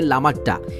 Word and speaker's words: লামাহাট্টা: আর এরপরে আমরা যাব লামাহাট্টা নামে একটা জায়গাতে স্থানীয় উচ্চারণে বলে লামাট্টা এই জায়গাটাতে যেতে খুব